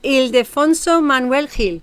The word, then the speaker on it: Ildefonso Manuel Gil: Let me see if I pronounce it right. Ildefonso Manuel Gil.